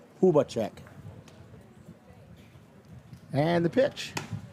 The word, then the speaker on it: Hubacek: we asked first and he says it rhymes with tuba Puba check and the pitch it's